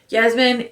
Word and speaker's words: Yasmin: meets lady Yasmin Ranier pronounce it Yasmine is ineligible for his